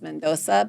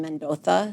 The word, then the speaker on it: Mendoza: In Spain they don't pronounce their Z's. Like, here, my name is Mendoza, but over there I'm Mendoza. So they say there is Z's as a TH, right?